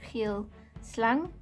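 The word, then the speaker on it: geelslang: It's pronounced, we translate it directly out of Afrikaans, geel slang, yellow snake.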